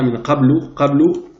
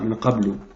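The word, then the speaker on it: مِنْ قَبْلُ: ici, dans cette formule-là, min qablu. À la fin de la phrase, on dira plus min qabl. On ne prononce pas la dernière voyelle. Mais si on veut la prononcer, pourquoi pas. Min qablu.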